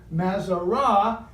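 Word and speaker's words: מזרות: We see not so much the zodiac, but the Mazarat, pronounced in Hebrew, Mazarah, and you will find it in Job 38.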